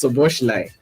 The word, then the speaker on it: Szoboszlai: So this move, Dominic Szoboszlai, it's Szoboszlai. This name is quite hard to pronounce.